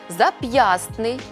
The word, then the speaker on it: зап'ястний: слова-винятки які потрібно запам'ятати у цих словах винятках звук т у вимові зникає але на письмі зберігається можемо більшість із них запам'ятати за такими рухами створюйте за мною зап'ястний пестливий кістлявий хвастливий нарешті